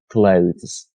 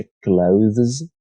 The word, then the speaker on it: clothes: باید خدمتتون عرض کنم که واژه clothes در چنین مواقعی شما هم میتونید th رو تلفظ کنید و بعد es جمع رو هم تلفظ کنید که میشه clothes. هم میتونید برای راحتی کار صرفا این قسمت رو ز تلفظ کنید، یعنی بگید clothes. هر دو حالت صحیح است.